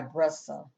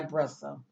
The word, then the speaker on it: Brissa: here and once again I apologize for pronouncing her first name incorrect she goes by brussa okay so I just